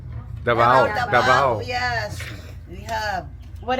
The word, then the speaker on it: Davao: Dabdao. Davao.